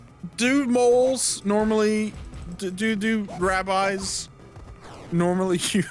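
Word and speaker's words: mohel: dude moles normally do do rabbis normally use Chinese hook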